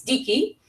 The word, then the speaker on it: dike: Justice, in the word that Hesiod uses for justice, means justice in ancient Greek, is dike. rhymes with Nike, but Nike should be Nike, I guess.